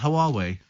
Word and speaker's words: Huawei: It's called the Huawei watch. Huawei. Why has it got an H at the beginning? Who are we? Is that the same as who are we?